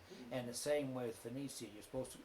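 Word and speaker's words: Venezia: But it's called Verona, is what is the way you're supposed to pronounce it is Roma, not Rome. And the same way with Venetia, it's called Venetia, not Venice.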